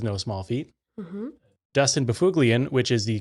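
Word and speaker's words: Byfuglien: small feet mm Dustin bulian which is the correct pronunciation of his last name so get out of the comments so it's like a Norwegian name that's pronounced uh like he's a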